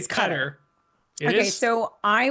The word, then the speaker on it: Qatar: the Hebrew and the but it's like ka is how she would say it like in her throat. But they also say gutter gutter. So like kind of like a gutter, but um, so so it's cutter. So, it's This is hard.